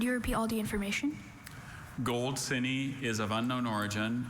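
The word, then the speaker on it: goldsinny: Gold cine is of unknown origin.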